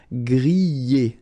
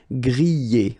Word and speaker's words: griller: This combination of two letters, ER at the end, will give you the sound E, all right?